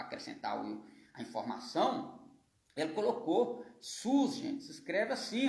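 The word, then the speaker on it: סוס: Ele colocou sus, gente, se escreve assim, ó, Samer, Vav com Kubutz, né, que é esse pontinho aqui, colocando ele com som de U, e o sigma final, e o Samer depois.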